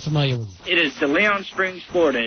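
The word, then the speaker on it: De León: Yeah, I love the way that you kept the original Spanish pronunciation. I guess he was from southern Spain.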